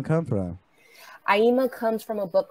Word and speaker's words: Aima: the states and so i would always be like aima like dreama and then i was like that's nice you know there it is where does that name come from aima comes from a book